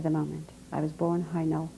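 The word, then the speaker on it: Hajnal: pro gross at the moment i was born high now weiss how do you spell that hi now is h-a-j-n-a-l why is this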